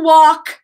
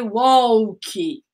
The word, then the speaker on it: walk: that's the last word last one is to walk the dog and be careful with the pronunciation walk no a wall key and walk walk walk the dog no so